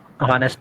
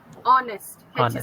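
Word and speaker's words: honest: Raghu E एन एन नेस्ट man very good A इट नॉट नेस्ट इट्स ऑनेस्ट silent no नो नो चच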